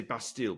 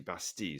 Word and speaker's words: Bastille: Actually, people say Bastille, but it's actually Bastille, is how you're supposed to pronounce it, and captured the prison.